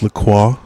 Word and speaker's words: LaCroix: It's actually pronounced LaCroix. Oh, is it? I don't know. Oh, I thought it was LaCroix.